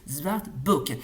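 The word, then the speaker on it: Zwartboek: franco-québécois et en handais ça se prononce zart book qui est un film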